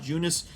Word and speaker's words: Junis: sean manaya and jacob eunice on the mound for this one now i know it's probably pronounced jacob junis but it's spelled to me jakub union so that's how i'm